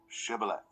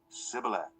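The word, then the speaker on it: Shibboleth: he replied no they said all right say shth if he said Sith because he could not pronounce the word correctly They seized him and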